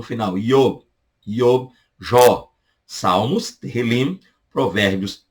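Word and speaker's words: תהלים: Salmos, no hebraico, Terrilim. Terrilim, para te ajudar aí. Terrilim. Lim. No final você fecha a boca, tá? Terrilim. Não é Terrilim.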